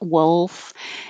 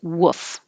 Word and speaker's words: wolf: that's in milk wolf but you have to have some l there otherwise it will sound like number nine woof and that's totally different that's just the sound a dog makes so you need some